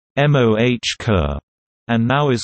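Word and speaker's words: MOCR: Mission Operations control room MOC are pronounced MOH ker and now is called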